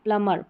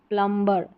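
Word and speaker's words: plumber: ये तो उच्चारण करते ही करते हैं, जो कि जो सही अगर प्रोनाउंसिएशन की बात करते हैं तो गलत रहता है, और इसका करेक्ट उच्चारण जो रहेगा, प्रोनाउंसिएशन, वो रहेगा प्लमर, प्लमर, ना कि प्लम्बर, प्लमर। बी साइलेंट है रूल के अनुसार।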